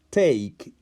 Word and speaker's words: take: que si se fijan escuchen take no se pronuncia la i es una de muda termina con una pero es muda entonces cuando yo lo utilizo